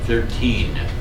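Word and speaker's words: thirteen: hear this one 1 notice there's an n on the end 13 so sometimes I I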